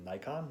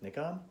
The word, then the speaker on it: Nikon: And I'm an American, so I say Nikon, not Nikon, but Nikon has said that that's a valid pronunciation.